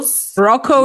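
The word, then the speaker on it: Rocko: Roco literally spelled like rock with an O at the end.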